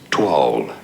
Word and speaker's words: toile: So the pronunciation in English is as toile.